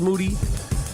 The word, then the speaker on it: Moody: moody last name rhymes with duty mo a GeoNet